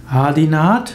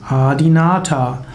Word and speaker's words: Adinath: haben om nam shivaya adinat ist eine Verkürzung des sanskritwortes adinata adinat ist insbesondere die Aussprache wie sie in Nordindien üblich ist insbesondere ist adinat die Hindi Aussprache von adinata Adi heißt ursprünglich nata